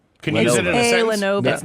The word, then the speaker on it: Lenovo: A Lavono?